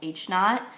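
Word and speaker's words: h₀: That's pronounced h naught.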